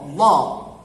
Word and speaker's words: Allah: kata Allah tanda bacanya a, maka lam pada kata Allah dibaca tebal.